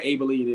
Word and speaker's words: Abilene: don't even know where abele is i just know that it rhymes with maybelline all right so uh